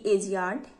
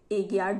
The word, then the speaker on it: Agiad: AGIAD एजियाड, एगियाड, जो भी आप प्रोनाउंसिएट करिए इसे।